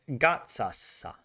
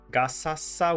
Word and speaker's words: Gaza: So you would pronounce it gatsasa. Okay. Like pizza.